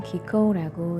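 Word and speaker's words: 喜幸: 그것을 일본말로는 기코우라고 읽는다네요.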